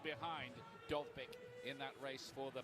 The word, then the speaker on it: Dovbyk: Robert Lewandowski's first La Liga hat-trick last week leaves him just 3 behind Dovbyk in that race for the Pichichi trophy they give to the leading.